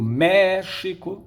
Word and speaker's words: México: Olha o México, a sílaba tônica é o mé.